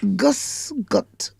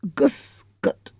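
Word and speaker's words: Grüß Gott: s and g o t t and it's Gus gut Gus gut that's how it's pronounced and the me the original meaning of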